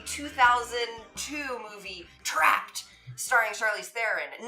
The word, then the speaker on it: Theron: The name was Charlize Theron. But people got unease in pronouncing it, and therein lies the problem of their own. So they say things like Theron, but they're wrong, Charlize, they're wrong, and hence this song.